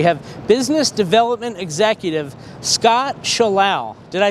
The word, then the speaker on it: Schallau: Schallau rhymes with cow, however you want to remind yourself.